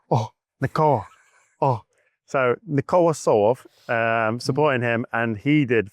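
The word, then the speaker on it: Tsolov: Or as my girlfriend calls him, or has to pronounce it in Bulgarian, Right. Nikola Solov. Okay. It's not Solov, it's Solov.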